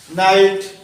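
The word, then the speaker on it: knight: এই ক্ষেত্রে কে অনুচ্চারিত থাকে, তার মানে কে এর উচ্চারণ হবে না।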